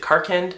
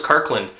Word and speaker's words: Karkand: I think is it Karkand? I think that's how you say it. I always thought it was Karkland.